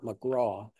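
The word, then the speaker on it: Magrath: Peter McGraw, or McGrath. I think he pronounces it McGraw.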